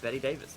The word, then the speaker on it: Bette Davis: Was it, is the E pronounced at the end? I think, yeah, Betty Davis, but I think your spelling is correct though. Have you ever heard that song Betty Davis Eyes or whatever? No. I don't think I have, at least. I believe it. I could be wrong. I believe it's Betty, but you did spell it correct.